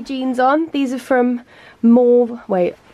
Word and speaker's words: Maeve: These are from Maeve. Wait, I've said this wrong before because it's an Irish name. How do you say M-A-E-V-E?